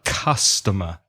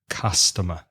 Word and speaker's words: customer: it's C us but it's not read or pronounce in the same way as you would read it in Spanish cool it's pronounced ha-ah so customer customer another thing you said